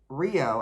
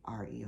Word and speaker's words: REO: look for a name rather than pronouncing rio as a single word as the motor company did they chose to spell the word out because maybe it makes sense especially it makes it different maybe they won't get in trouble but especially with ransom eli olds was the one that designed it by pronouncing each individually as we know it today reo speedwagon so there you go